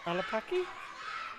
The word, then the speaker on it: Olapaki: Clover Olapaki. Is that how you pronounce it?